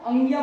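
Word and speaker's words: ङ: वाला वर्ण है इसको अंग्या पढ़ा जाता है, याद रखना, इसको अंग्या पढ़ा जाता है, अड़ा पढ़ा नहीं जाता है। क्या पढ़ा जाता है, अंग्या पढ़ा जाता है।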